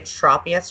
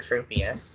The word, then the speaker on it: Tropius: next one on the list was d SE Tropius or true pious or something else Tropius copious with me so crystal you're by yourself